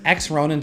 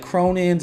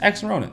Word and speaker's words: X Ronin: is x ronin nft and yes that is how you pronounce it i hit up the team i was like yo is this like cronin's like how do i pronounce this they said not just x ronin this collection size of